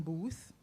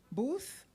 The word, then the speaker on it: Booth: So he often gets Boot instead of Booth. Did I pronounce it correctly, sir? Booth.